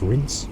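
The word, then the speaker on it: Reims: so i'm just outside reams which i think is pronounced rinse for some reason not quite sure why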